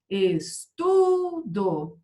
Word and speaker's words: estudo: Estudo. A sílaba forte não é a última, é a penúltima.